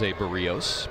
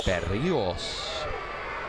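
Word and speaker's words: Berríos: Acquired by the Twins along with today's starting pitcher for them for Jos Bereios back in 2021. Say it correctly. Bios. Bereos.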